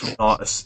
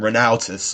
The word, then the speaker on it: Renatus: and he can't pronounce Renatus. He can't pronounce Renatus properly. He pronounces him Renautus or something like that.